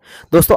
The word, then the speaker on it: the: नाउ द question is what are articles. Articles क्या है? Friends, ए, एन और द को आर्टिकल्स कहा जाता है। यहाँ पर THE का प्रोनाउंसिएशन द भी होता है और दी भी होता